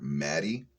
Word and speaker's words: Madej: Maddie, which is weird because it looks like her name is spelled Mage.